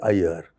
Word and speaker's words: Aiyar: by the fact that although many North Indians have great difficulty in pronouncing my surname correctly these pakistanis I was meeting in Karachi were all able to easily say Ayer the sindhis particularly and